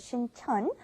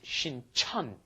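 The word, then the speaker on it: 신천: One is Sincheon, one is Sinchon. Yes. The one by Yonsei University is Sinchon, and the one by Jamsil down south, that is Sincheon.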